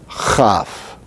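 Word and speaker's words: כ: Then we have the letter chaf. Chaf. Chaf is the letter that is pronounced like the chi of Greek, but just slightly further back in the mouth.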